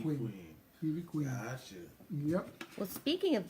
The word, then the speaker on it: Ivy Queen: But I call her by her Spanish name. It's just Evie. Evie Queen. Queen. Evie Queen.